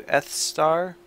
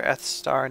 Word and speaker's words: Esthar: It's a weird pronunciation. I don't really like the way it's spelled. I always wanted to call it Esther, even though I know that that's not how to pronounce it.